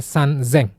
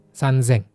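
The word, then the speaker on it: 三千: Untuk 1000 dia hanya berubah di 3.000 aja jadinya sanzeng. Sen-nya ada tanktengnya sanzeng. Kalau yang lain seng biasa.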